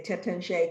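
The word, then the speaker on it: Taittinger: Mike Pfeiffer, who's going to talk about Champagne Tettinger, the way I like to say it, the way Americans say it, because it makes me feel less snooty. But I think the French would say Tettinger.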